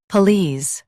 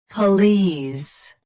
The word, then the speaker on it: police: Police, both US and UK have the same pronunciation of this word. Stress lease. Keep p soft and quick. Police. Police. Stress lease. Keep p soft and quick.